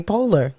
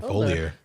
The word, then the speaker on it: Poehler: How is it pronounced? Amy Poehler. Amy Poehler. Yeah. Okay. Why have I been saying Folier?